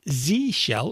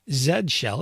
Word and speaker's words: Z shell: Other popular shells are the C shell, the Korn shell, the Z shell, or Z shell as our friends in the UK like to call it, Fish, also known as Friendly Interactive Shell.